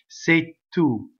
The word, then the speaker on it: se tu: in that first line I've written a Double T for the word two that is because something called a strong monosyllable makes has an effect on the next word causing the first consonant to double that's a strong monosyllable so